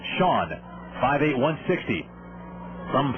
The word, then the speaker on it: Chone: a strike to pigeons sean sagan spells it c-h-o-n-e it looks like chone but it's pronounced shawn five eight one sixty